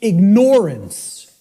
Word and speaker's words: ignorance: I tell people, start pronouncing it ignorance. Ignorance. Then people will hear the word ignore in it, and the connotation becomes clear.